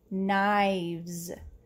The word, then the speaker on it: knives: spoons a knife knives notice the k is silent knives chopsticks what about you